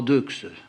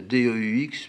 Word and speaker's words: Deux: Oui, enfin, on dit pas Deux. Ça s'écrit D-E-U-X, mais on dit Deux.